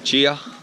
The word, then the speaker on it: chai: So we just stopped off here, grab a bit of breakfast, get some chia, which is how you pronounce chai in Nepal, and some delicious looking potato fried things.